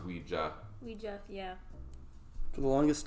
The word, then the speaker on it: Ouija: Ouija board? Yeah, but it's actually pronounced Ouija.